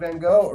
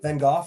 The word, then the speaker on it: Van Gogh: the same country as Vincent Van go van vanov sorry I know that we Americans pronounce that incorrectly that's awesome though cool